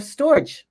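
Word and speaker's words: storge: and there's another one it rhymes with the word stork right it's called storch storage and it's familiar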